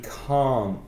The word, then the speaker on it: can't: pronunciación de can y can't. Can't tiene el sonido vocal más largo. Exactly. Aunque no escuchas la T final, puedes saber que es negativo por lo largo que es el vocal.